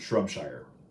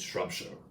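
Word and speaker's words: Shropshire: Shire and you know you don't pronounce it shrub Shire it's shrub show I'm I'm now just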